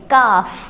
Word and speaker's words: calf: ये, ठीक है, कि अगर स्पेलिंग में एल के बाद एफ हो तो भी एल साइलेंट रहता है। और इसके एग्जाम्पल्स हैं CALF, और इसको हम पढ़ेंगे काफ। काफ होता है जो हमारी माता है ना, गाय माता, उसके बछड़े को हम बोलते हैं काफ।